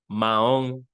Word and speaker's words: mahón: Mojón. Mahón. Mojón, mahón. El mojón. El mahón.